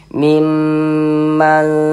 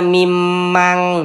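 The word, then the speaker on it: مِمَّنْ: Maka kita baca seperti ini. Mimman. Jangan dibaca mimang, jangan. Nah, kita baca mimman tardawna minasyuhada. Ikhfa hakiki itu cara membacanya disamarkan kemudian didengungkan. Yang disamarkan itu apanya? Bunyi nun sukunnya ini dibaca samar. Jangan dibaca miman, n-nya jelas begitu, jangan, tapi disamarkan. Miman seperti itu.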